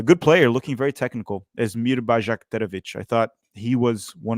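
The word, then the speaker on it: Esmir Bajraktarević: for the United States number 19 is bajik um the that's probably what everyone's asking it's asmir bakovic he's an 18-year-old Winger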